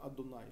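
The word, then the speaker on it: Адонай: Мы сегодня, когда сталкиваемся с этим словом на страницах Торы, произносим Адунай, что значит Господь.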